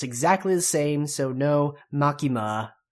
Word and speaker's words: Makima: names are then there is dji's self-proclaimed owner makima makima makima once again that is just Katakana and